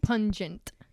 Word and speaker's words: pungent: And also last episode I was saying pugnant, right? And you were saying it wrong. It's not poignant. That's not it. Pugnant. Pungent.